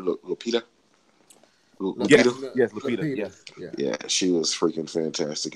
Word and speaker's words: Lupita: Yes, Lupita.